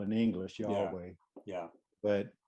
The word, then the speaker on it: Yahweh: And you try to say those 2 combinations, and that's is or Yah, depending on how you say it. Then Weh. So it's a breathing in and then a breathing out.